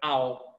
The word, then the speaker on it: I'll: Que a pronúncia é um latido de um cachorro. É I'll.